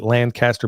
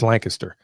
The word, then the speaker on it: Lancaster: Yeah, other people will pronounce it Lancaster, but it's Lancaster.